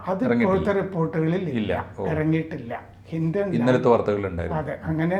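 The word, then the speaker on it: Hindon: അവിടെ ഇത് എത്തിക്കൊണ്ടിരുന്നു അതുകഴിഞ്ഞാണ് ഗാസിയാബാദിലെ ഹിന്റോൺ എന്നാണ് സ്പെല്ലിംഗ് എങ്കിലും ഹിന്റൺ എന്നാണ് ഉച്ചാരണം ഹിന്റൻ വ്യോമതാവളത്തിൽ എയർഫോഴ്സിന്റെ താവളമാണത്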